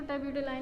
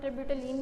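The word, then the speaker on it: terbutaline: ठीक है, इसको टर्ब्यूटलाइन भी पढ़ सकते हैं, टर्ब्यूटलीन भी पढ़ सकते हैं आप, जिस तरह मर्जी आप जो है वो प्रोनाउंस करना चाहें।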